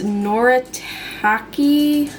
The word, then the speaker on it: Noritake: It's Noritake. I think that's how you're supposed to pronounce it.